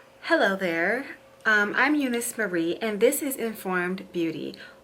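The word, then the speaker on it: Euniyce Mari: off Who am I I am Eunice Murray same name here on this channel but it is spelt a little bit differently it is both EU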